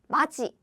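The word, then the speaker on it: 맏이: It's always 지. So this is 지, 마지, right?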